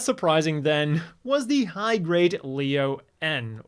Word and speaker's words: Leo-N: Slightly less surprising then was the high-grade Leo N or Leon as you're apparently supposed to pronounce this.